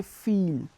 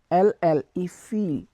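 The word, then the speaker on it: fille: So to girl we will say feel, F-I-L-L-E, feel.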